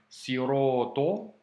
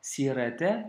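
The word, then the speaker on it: صراط: Donc, tu vois, au début, on retrouve le mot chemin, siroto, avec la lettre sod et la lettre to, qui sont à prononcer avec emphase, hein, tu te souviens. C'est pas sirete, c'est siroto.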